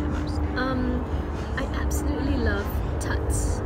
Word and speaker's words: Tut's: I absolutely love Tuts. I think it's Tut, not Tut. So apologies, said it wrong earlier.